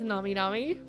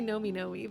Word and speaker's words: Nami Nami: Because I was gonna say Nomi Nomi, but if it's short for nomination, then it's Nami Nami.